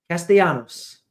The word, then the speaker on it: Castellanos: It has like the Spanish double. It's like a Y. Castellanos.